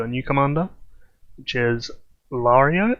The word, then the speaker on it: Lareo: new commander which is lario i think is the correct pronunciation and his stats are